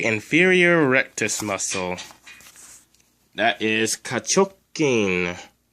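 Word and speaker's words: 下直筋: The first symbol, just like in the last word, it's ka, which means under or below. It's pronounced like that. The second symbol is chok, which means straight. And it's written like this. And it's pronounced chok. Oh, that's the wrong symbol.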